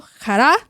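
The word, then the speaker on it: χαρά: Pero hoy refrescando acá algunos de los conceptos básicos es que gozo en hebreo que se pronuncia simcha y en griego jará se define como un sentimiento profundo de alegría y paz interior que proviene de Dios.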